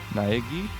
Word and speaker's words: Naegi: Naegi? Is it gi? Wait a minute, this is Japanese. That's not an I, that's an E. Naegi.